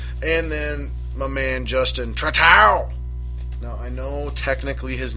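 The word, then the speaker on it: Trattou: And then my man Justin Tratow. Now, I know technically his name is pronounced Trato or Trato, something like that, Trato. But it's just way cooler to pronounce it Tratow.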